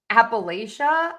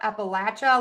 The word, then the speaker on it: Appalachia: Okay, for the word um Appalachia, Appalachia, let me put in the phonetic spellings for you.